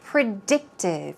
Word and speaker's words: predictive: Moving on to predictive. Here we go. Predictive, stress goes on the second syllable.